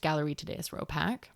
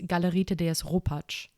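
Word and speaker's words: Galerie Thaddaeus Ropac: It's not just Galerie des Ropak. And just FYI, for those wanting to know how it's properly pronounced in German, it's Galerie des Ropak.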